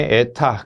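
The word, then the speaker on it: η: 자, 효율만큼 읽을 때는 에타, 그리스 문자 에타라고 읽습니다.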